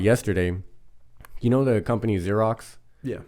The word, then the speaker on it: Xerox: or something like that it's it's spelled x-e-r-o-x Xerox but it's pronounced Xerox the first letter is an X